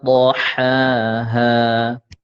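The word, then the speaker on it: طحاها: Huruf dha berbaris kasrah, dhammah, fathah, ya tetap dibaca tebal. Wal ardi wa ma tahaha wa nafsin wa ma sawaha.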